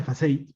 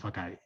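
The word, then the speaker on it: façade: Se pronuncia FACEI, pero bueno, aquí en Latinoamérica le decimos FACADE.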